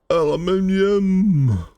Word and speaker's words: aluminum: Aluminum, aluminum, depends on how you want to pronounce it.